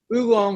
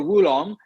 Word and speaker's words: oolong: you know uh uh oolong or wulong the word is if you if you're if you spell it with an o-o or a w-u you're right wulong w-u makes you want to say wulong and if your goal